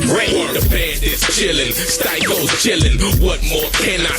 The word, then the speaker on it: Sty-ko: that, theater history, and actually changed the pronunciation from to Sty-komithia, knowing no one in the hip hop game is gonna say Sty-komithia, so I shorten it to Sty-ko.